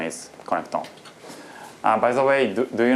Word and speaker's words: Connectome: The pronunciation is Connectome.